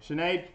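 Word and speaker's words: Sinéad: Ian Cheney dokkan how you say that Sinead Sinead thank you I always say it wrong sparks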